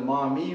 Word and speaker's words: Maumee: of Cincinnati and then the Maumee River is actually another pronunciation of Miami so uh I hope